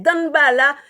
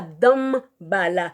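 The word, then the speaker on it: Danbalah: commettre cette erreur donc c'est danbala donc ça se prononcebala et ça s'écrit d a n b a L a h donc c'est pas dam bala donc en pile monde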